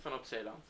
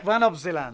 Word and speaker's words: van op Zeeland: van op Zeeland. van op Zeeland.